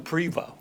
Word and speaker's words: Prevost: it Prevo or Prevost? I call him Prevo. Yeah, Prevo. We don't pronounce the T, but I found out he actually was related to one of my dad's relatives.